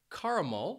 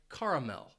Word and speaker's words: caramel: hear a different pronunciation people might say caramal and that mul is that third syllable or you might hear people say caramel and Mel so it's a difference between M and Mel caramel caramel and those